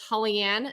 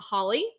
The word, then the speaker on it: Hollyann: entire life telling people no it's hollyann not Holly so I understand I